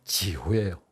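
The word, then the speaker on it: 九: 하는데 이런 경우가 있습니다 구는 중국으로 발음이 지호예요 그럼 지우라는 발음은 들으면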